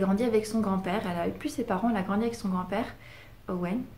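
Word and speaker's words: Eoin: grandi avec son grand-père, Owen, ça s'écrit E-O-I-N, mais ça se dit pas Eowyn.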